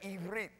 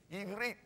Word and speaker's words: Ivrit: You could say Ivrit. Ivrit. You got to hold your tongue between your teeth on the last syllable.